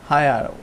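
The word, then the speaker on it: heir: Prince William is এ হায়ার টু the thrown of the great Britain, তাহলে হায়ার, এখানে এইচের উচ্চারণ হায়ার, mute H, এই mute H হচ্ছে, তাহলে এখানে এ হবে না, এর জায়গায় কী হবে, অ্যান হবে।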